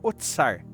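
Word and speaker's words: אוצר: A expressão casa de do tesouro vem de ossar, né? Se pronuncia otsar, que significa depósito, armazém, lugar onde se guardava recursos para o sustento do templo e dos sacerdotes.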